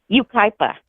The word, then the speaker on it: Yucaipa: Ukipa.